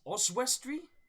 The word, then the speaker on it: Oswestry: I want to try and get the pronunciation right on this name. It is Oswestry, which is the 4th and 5th.